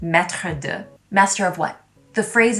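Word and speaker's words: maître d': word maitre d in french which is actually pronounced metrodue master of what the phrase is actually missing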